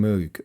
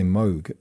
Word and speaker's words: Moog: this is from moog or should i say moog which is the correct pronunciation but this was originally